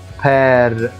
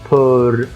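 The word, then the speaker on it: père: لما نشوف كلمة أو يعني معناها أين، أو زي كلمة بير، ما قلتهاش بور، بير.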